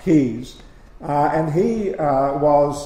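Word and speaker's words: Caius: is dr keys uh kyle's pronounced keys uh and he uh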